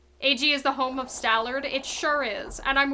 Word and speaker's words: Stallord: Ag is the home of Stallard. It sure is. And I'm aware that his name is supposed to be Stallord, but what if I pronounce it like Malard?